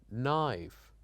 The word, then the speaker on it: knife: right light night and also letters that are silenced like the letter K when it followed by n for example knob knee knife knock and also we